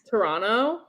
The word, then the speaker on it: Toronto: want to interrupt well toronto you don't say the second t toronto yeah how do you